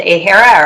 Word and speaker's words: AHERA: so there are um i don't know if people pronounce it a hera or ahera but a-h-e-r-a there are reports that